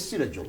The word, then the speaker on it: Sirajul: Because I used to go, my name is Sirajul, okay? How many syllables can you try? Three. 3. Go on then. Sirajul. 3 syllables.